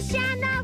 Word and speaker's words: Shanna: I am Shanna, rhymes with banana.